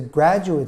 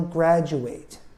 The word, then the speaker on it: graduate: usage is different gradually uate is a verb so he will graduate but graduate we take the last syllable and we make it an it sound graduate it becomes a noun